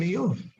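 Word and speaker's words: Iyov: It's more difficult than Job, I'm told to pronounce. It's more difficult than Eov.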